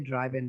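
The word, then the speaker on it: driven: অনেকেই ড্রিভেন বলে, অনেকে ড্রাইভেন বলে। দেখো, ড্রাইভ থেকে ড্রাইভেন অথবা অনেকে ড্রিভেন বলে, দুটোই কারেক্ট আসলে উচ্চারণটা।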